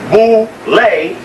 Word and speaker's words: Boule: to the Boule picnic known as vole pronounced Bole the group is here see ble ble b